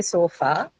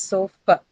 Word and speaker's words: sofa: Most of us say sofa, but the actual articulation is sofa, right?